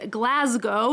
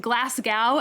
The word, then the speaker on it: Glasgow: of basic millennial aesthetic the next one is glasgow not glasgow as americans like me might want to say